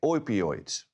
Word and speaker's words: opioids: And of those, about 70% came from synthetic opioids. Opioids, that's the proper pronunciation.